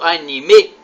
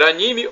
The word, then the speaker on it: anime: Anime ou anime? A pronúncia pode ser anime ou anime.